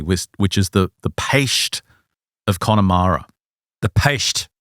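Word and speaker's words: Peiste: 3, which is the Paist of Connemara. The Paist. Paist. That's a new word I've never heard before. It's spelt P-E-I-S-T-E, but it's pronounced Paist.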